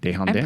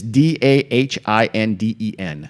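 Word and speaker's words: Dahinden: I'm Desjardins. pretty sure. Is it a J? Isn't it Desjardins? It's Dahindin. Oh. Ain't no J nowhere.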